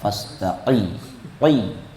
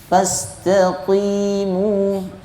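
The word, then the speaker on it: فاستقيموا: Kalau berlebih-lebihan fastaqil. Nah, itu kurang tepat ya. Karena Al-Qur'an ini walaqad yassarnal qurana lidzikri. Kami telah mudahkan Al-Qur'an untuk disebut atau diucapkan atau diingat ya. Jadi enggak enggak memberatkan. Kalau pastiqi itu memberatkan ya. Fastaqi. Fastaqimu ya. Fastaqi. Ini hanya untuk membedakan antara qof dengan kaf. Kalau dibaca fastaqi huruf kaf qof lebih dalam.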